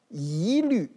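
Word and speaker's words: 一律: 比如我们举例啊，一律、一半、一望无际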